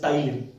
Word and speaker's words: ptyalin: P is silent here. It is referred as ptyalin. That ptyalin will break the starch into maltose, isomaltose and alpha dextrins.